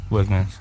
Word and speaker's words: Wegmans: And so I did pronounce it right, Wegmans? Yeah, Wegmans or Food market. Wegmans.